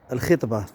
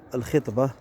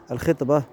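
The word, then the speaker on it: الخِطبة: مثلا الخطبة، نقول الخطبة هي مقدمة الزواج، الخطبة وليست الخطبة. الخطبة هي التي يلقيها الخطيب، بينما مقدمة الزواج هي الخطبة.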